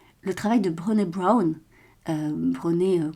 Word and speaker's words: Brené: Brené, comme ça se prononce, Brown comme la couleur marron, qui fait beaucoup de choses sur le pouvoir de la vulnérabilité.